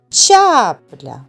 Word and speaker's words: чапля: Визначимо тепер, який з них наголошений. Чапля. Чапля. Ставимо наголос над першим звуком а.